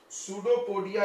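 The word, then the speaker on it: pseudopodia: सूडोपोडिया is present. इसका नाम क्या है? क्या पढ़ते हैं? पी नहीं पढ़ते, पी साइलेंट है।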